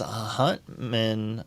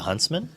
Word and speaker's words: Huntsman: Um, while Hector here deploys a book to keep up the card advantage while also having some pressure, but Brian's Huntman. Uh, the Huntsman.